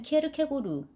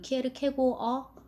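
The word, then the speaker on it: Kierkegaard: 안델센은 키에르케고르, 요즘 발음으로는 키에르케고어 와 더불어서 그 덴마크가 우리에게 안겨준 가장 큰 선물이라고 이제 인류에 안겨준 가장 큰 선물이라고 합니다.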